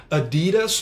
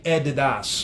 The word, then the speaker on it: Adidas: naipes então Adidas né na verdade eu pronunciado é Adidas para os americanos e eddies para os britânicos né então eles pronunciam de formas diferentes coloquem aí mais marcas